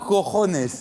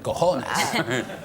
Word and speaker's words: cojones: qu'on ne peut prononcer qu'en relevant la tête. Cojones. C'est-à-dire la jota espagnole est très propice.